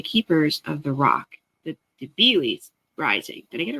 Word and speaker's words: Debilis: Debeil, the S is silent.